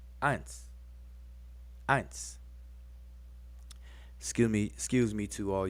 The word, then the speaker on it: eins: But in German, this same symbol now is pronounced eins. Eins.